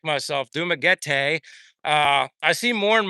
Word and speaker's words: Dumaguete: Uh basically Dumaguete the majority of the time and then another uh 4 months in Bacolod and you know the story with that.